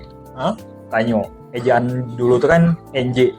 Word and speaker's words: Tanjoe: Jogja di Jogja kalau tanjo atau tanyo nah menarik tuh Mas Jadi kalau dari namanya tuh kenapa kita tulisannya dari tulisannya tanjo ya tapi dari secara bacaan itu sebenarnya tuh bahasa Aceh he tanyo Eja dulu tuh kan